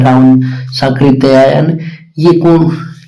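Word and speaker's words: सांकृत्यायन: आप सही हो जाएगी तो इसका बोलने से बता रहा हूं साकृत या य होता है इसमें त आता है और उसके बाद में या और यह लगता है।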